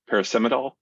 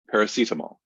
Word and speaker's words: paracetamol: brand is Panadol and I can never pronounce the the but it's um parasimidol is that it paracetamol yeah um so and uh